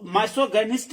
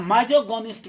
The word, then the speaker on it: misogynist: तो माइसोगोनिस्ट भी कहा जाता है, माइजोगोनिस्ट भी कहा जाता है, माइसोगोनिस्ट तो या मिसोगोनिस्ट, कई तरह से इसका उच्चारण होता है।